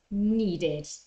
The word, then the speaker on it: needed: want becomes wanted and need instead of saying need becomes needed yeah okay remember uh that